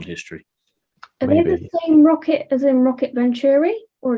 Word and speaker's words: ROKiT: Yeah, it was ROKiT Venturi, and again, everyone there called it ROKiT, so I think we understand how it's supposed to be pronounced at this point in time.